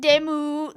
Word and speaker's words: Demu: So, Demu, yes, it's spelled Demu, like as a cow with moo, so yeah.